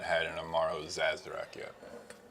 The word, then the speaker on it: Sazerac: No, we have not had an Amaro Sazerac yet.